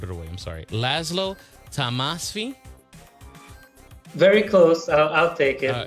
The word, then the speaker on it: Tamasfi: Yeah, the last little part was perfect. So okay. Last name is Tamasfi. Tamasfi.